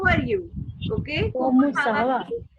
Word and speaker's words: comment: So I have already told you T is silent. Okay. So we do not need to pronounce T. So this will become como. Comment. Como.